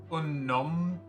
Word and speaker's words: Unomnon: Name is Unomnon, well after the word phenomenon, if that helps with pronunciation.